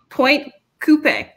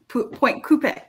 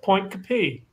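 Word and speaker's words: Pointe Coupee: across the river in fact from baton rouge point coupe like like a car it's like a point coupe it's close okay that's how it should be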